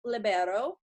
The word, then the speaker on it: libero: I am here with Anna Dalla Vecchia, who is from Venice, Italy, and she is our junior indoor libero.